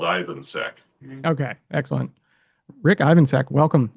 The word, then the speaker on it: Ivansek: My name is pronounced as easily as it's spelled. Ivansack.